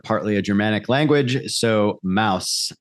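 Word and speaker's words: Maus: a Germanic language so Mouse m-a-u-s in German is mouse like house the way we say it okay so then uh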